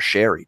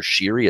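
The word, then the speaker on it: Sheary: did that with O'Connor sherry - who's - who's actually changed his pronunciation by the way it's no longer shiri it's actually sherry as in the drink so I don't know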